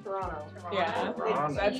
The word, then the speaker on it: Toronto: How does You don't really say like the last T, so it's like Toronto. Toronto.